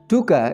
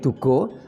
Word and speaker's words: Duga: Duga ini adalah unsur tanah. Kalau dibaca O menjadi Dugo artinya pangati-hati atau peringatan atau arahan.